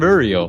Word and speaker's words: Uriel: I'm Uriel, which is totally how you say my name.